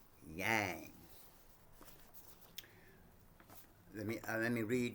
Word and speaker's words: Yang: Yin and Yang pronounced yang as in gong as in gong is the is one of the most fundamental concepts in Chinese medicine.